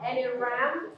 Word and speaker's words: NRAM: So today, we have Marline Paul, who is the founder of NRAM. Did I pronounce that correctly?